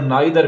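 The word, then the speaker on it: neither: साथ ये आइदर और नाइदर भी इस्तेमाल होता है। आपकी मर्जी है, आप आइदर नाइदर पढ़ते हैं या ईदर और नीदर पढ़ते हैं, कोई फर्क नहीं पड़ता।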